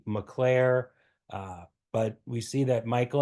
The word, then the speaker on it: Mockler: So that kind of makes me wonder, is the name pronounced Mockler or McClare? It may change over time, or one branch uses one. My neighbor says the name is definitely McClare.